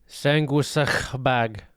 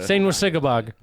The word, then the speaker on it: Sanguisugabogg: And I did spell it right. You did, yeah. Sanguisugabogg.